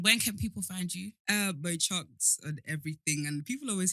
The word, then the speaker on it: MoChunks: So Mo, as in chunks, as in tuna chunks, on everything: YouTube, Instagram, TikTok, Twitter.